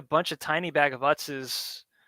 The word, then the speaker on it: Utz: Oots, oots. I keep wanting to pronounce it with like an umlaut that's not there. Utz.